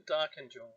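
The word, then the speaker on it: Darkinjung: And in correct pronunciation, the Darkinjal.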